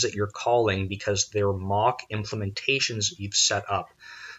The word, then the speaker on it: Moq: unit testing framework and MOC which allows you to it's spelled moq but it's to MOC MOC K out implementations